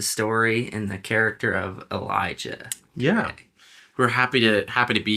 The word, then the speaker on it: Elijah: You hear me call him Elisha? It's Elijah. J as in Jesus.